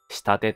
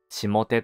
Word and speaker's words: 下手: 消えないのだ漢字の下手の 3 通りの読み方下手と読むとやり方や手際がうまくないことで下手と読むと位置が下の方にあり風下や川下のことで下手と読むと川の流れていく方や舞台を客席から見て左側のことである同じく生物も通り